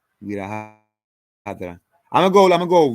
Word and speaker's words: Virabhadra: Vira Hadra. I'm gonna go Vira Hadra, Vira Hadra, Vira Hadra, Vira Hadra, Vira Hadra. I think with those type of last names, you gotta pronounce them all.